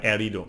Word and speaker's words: herido: No, be careful because in the H sound in Spanish it's silent, so it's herida or herido.